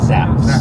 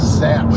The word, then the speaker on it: Zapp's: Do you spell it zonks? What is it called? Zapp's. Zapp's.